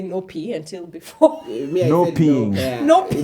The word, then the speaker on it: Nopea: It's probably short Nopea, or I used to say Nopea until before. Nopeing. Nopea. In Kenya, we're pronouncing it like they're Kenyan.